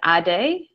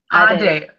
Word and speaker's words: Adey: But if you want me to tell you how it's pronounced, it's Adey. Adey.